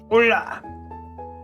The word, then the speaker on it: Hola: Hola. The H is silent and invisible.